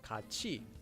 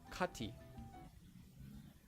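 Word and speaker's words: 같이: sound becomes pronounced as chi instead of t for example this word would be pronounced as kachi and not katie second whenever you have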